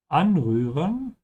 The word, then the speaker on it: Anrühren: Make sure to pronounce the umlaut here by stretching your tongue forward. Anrühren.